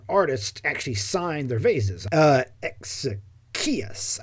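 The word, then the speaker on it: Exekias: Exechius, I believe. Exechius, I cannot remember, but that's why we know his name, right? He signed this piece of work. Exechius, that's how it's pronounced.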